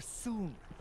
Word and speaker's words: Soon: Soon. Rhymes with moon.